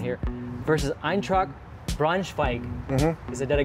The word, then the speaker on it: Eintracht Braunschweig: And I want to start with your time in Germany with Hannover versus, and I'm going to do my pronunciation here, versus Eintracht Braunschweig.